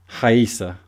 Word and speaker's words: Raíssa: Raíssa. Is. Okay. Yes. So it's not like the British racer. No. Here in Brazil, the R on the yes, like it sounds like H, right?